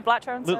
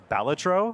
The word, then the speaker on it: Balatro: me Doom scrolling I guess I just play blro Lucy I heard a rumor that it's called It's pronounced batro yes really is this true yes so uh